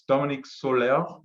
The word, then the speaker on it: Dominique Soller: so what I will do is introduce Dominique Soller, which Anaïs helped me with that pronunciation, as did Dominique.